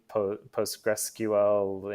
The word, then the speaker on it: Postgres: saying or PostgreSQL there I've heard things I post great sequel post GRA PostgreSQL and you know some some weird intonation on that but it's Postgres and PostgreSQL and do you remember